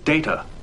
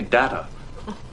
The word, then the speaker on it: Data: It is pronounced Data. Oh? You called me Data. What's the difference? One is my name. The other is not.